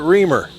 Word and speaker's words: Reimer: That might be Joseph Reimer, but they call it Reamer. I know the name is a rhyme. It's spelled a little different than the one I know, but he has the pronunciation as Reamer.